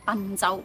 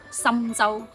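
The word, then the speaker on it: 郴州: 容易會將佢誤讀成賓州，咁咪錯咯。嗱，普通話讀春州，粵語讀深州，同心臟嘅心、深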